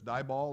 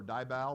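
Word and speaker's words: DIBAL: aluminum hydride known as die ball or Die Val depending on your pronunciation okay i pronounced it by ball but whatever tomato tomahto okay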